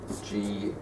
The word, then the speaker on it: Guyana: And the next to Venezuela here is Guyana, which is spelt G-U-Y-A-N-A, Guyana. Used to be British Guiana.